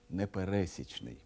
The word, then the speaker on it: непересічний: наприклад непересічний талант і зверніть увагу і на наголос непересічний а не непересічний слово пересічний означає середній